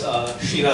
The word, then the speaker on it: Kshira: My name is Kshira. Sometimes I forget the name myself, so the K is silent, and it's a lot of complications after that.